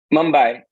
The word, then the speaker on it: Mumbai: Mumbai.